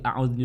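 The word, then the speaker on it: أعوذ: Nah, ini kita harus membedakan di lafaz a'udzu. Nah, ada huruf alif dan juga ada huruf ain, ada huruf hamzah, ada huruf ain. Nah, kedua huruf ini berbeda makhrijul hurufnya atau tempat keluar hurufnya. Kalau hamzah itu dari aqsal halqi, sementara ain itu dari wastul halqi.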